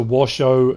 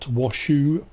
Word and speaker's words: Washoe: second intro washo not washu it's written shoe but obviously it's pronounced show um so yes washo